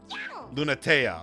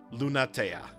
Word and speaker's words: Lunatea: Lunatea. Okay, so that's how they pronounce it. Lunatea.